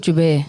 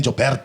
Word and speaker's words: Joubert: How do you pronounce it? Jube. Jube. Jube. I've been saying Joubert. You don't even understand. You grew up in South Africa and you don't know that it's Jube?